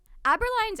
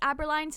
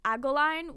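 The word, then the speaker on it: Abberline: a running gag that other characters always mispronounce aberline's name as agoline which is like your jawline I think in Japanese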